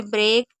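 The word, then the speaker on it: break: अब इ ए को ए कुछ ऐसी वर्ड मीनिंग भी है जिसमें हम ए नॉर्मली सब जगह पढ़ेंगे ही पढ़ेंगे। जैसे ब्रेक, ये और स्टेक। ये तीन ऐसी वर्ड मीनिंग है जिसमें आपको ए पढ़ना है।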